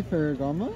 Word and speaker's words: Ferragamo: Does that say Ferragamo? Yeah. Okay. Is that pronounced correctly?